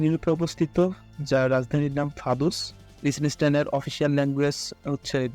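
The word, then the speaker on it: Vaduz: অবস্থিত যার রাজধানীর নাম ফাদুস লিসেন এর অফিশিয়াল ল্যাঙ্গুয়েজ হচ্ছে ডয়েস ডয়েস মিন জার্মান এবং জার্মান ভাষায় এইটার উচ্চারণ হচ্ছে ফাদস এর এরিয়া মাত্র 160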